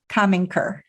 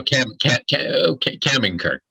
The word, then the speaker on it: Kaminker: Kaminker. That's Why correct. don't you pronounce it for us so people get the right accent? So Kaminker, but you were pretty close.